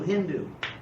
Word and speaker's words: Hindu: it so happens that the people on the west side the Persians pronounced an initial s like an H there's more for example